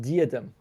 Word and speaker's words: Diadem: like that close uh I believe it's pronounced diadem yes that's the that's the correct one yeah well potato potato